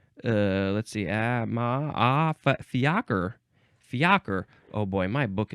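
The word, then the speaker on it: fiacre: acre but it's say it tells me it's fiaker this is a noun from 1698 the plural says it's the same pronunciation but you put an S at the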